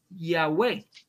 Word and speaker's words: Yahveh: evidencia antes de teodoro que la pronunciación es ya way de clemente alejan de